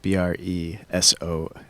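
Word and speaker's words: bresaola: Bresola.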